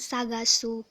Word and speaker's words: 捜す: hai hai Hai nah yang berikutnya kanji yang sagasu Hai Bisa anda perhatikan untuk bentuknya benar-benar berbeda